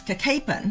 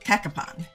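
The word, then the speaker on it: Cacapon: here gets wrong Cen it's kapen not kakapon and you see kapen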